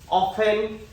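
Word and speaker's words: often: ঠিক তেনেকুৱাকে অফেন এই t ৰ আগত কি আছে মোৰ নিয়ম মতে f আছে, যাৰ কাৰণে t টো সাইলেন্ট হৈ আছে।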